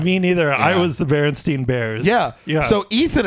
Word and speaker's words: Berenstain: pronounced It's Berenstain.